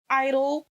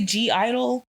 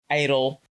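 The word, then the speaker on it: (G)I-DLE: She's friends with Mion, Mion, who was in, I think the group's name is Idol, but for some reason I still want to say G-Idol.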